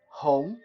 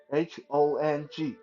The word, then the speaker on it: 红: Uh, the color red is 红, HONG, Home. 红, yeah.